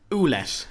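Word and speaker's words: Ouellet: And Carl Owlette, is that how they pronounce it? Olette orlette. Oollette. Olette.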